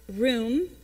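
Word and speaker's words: רוּם: it's the hebrew and it means or it's pronounced room and it's h7311 and it means to raise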